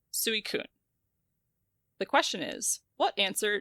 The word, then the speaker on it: Suicune: So it's Suicune. Suicune. Okay, cool. New Order said Suicune.